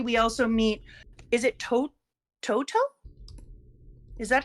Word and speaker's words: Toto: Chat saying it's pronounced Toto.